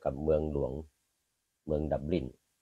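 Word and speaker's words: Dublin: ของ ประเทศ ไทแลนด์ คือ เมือง ดับลิน หรือ ดลน ที่ ชาว ไอริ เขา ออก เสียง อื ส่วน ใหญ่ จะ ออก เสียง ว่า ดับ แบน นะ เป็น เมือง หลวง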